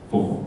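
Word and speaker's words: 佛: So that comes from Buddha, take away the Da, Bu, and then Bu, the B turns into F. Yeah? So it actually comes from the word Buddha originally, Fo as well.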